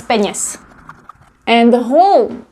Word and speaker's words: peněz: It's always with genitive, and besides, it rhymes. So it's bez peněz, bez peněz.